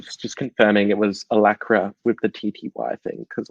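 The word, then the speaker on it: Alacritty: just confirming it was allakra with the tty thing because like gty no it's actually it is alacrity you don't pronounce that the tty yeah i know that's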